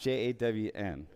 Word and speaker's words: jawn: It's pronounced Jawn.